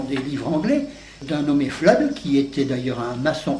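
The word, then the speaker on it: Fludd: d'un nommé Flood qui était d'ailleurs un maçon accepté des loges quand elles étaient encore opératives en Angleterre. Le premier de ces petits livres, Flood, ça s'écrit F L U 2D D FL euh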